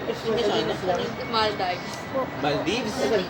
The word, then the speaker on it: Maldives: Maldives? Maldives. Maldives. Grabe, all my life, mali pronunciation ko.